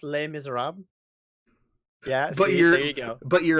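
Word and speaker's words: Les Misérables: have a French viewer and I know it's pronounced lame is Arab yeah but you're but you're a piece of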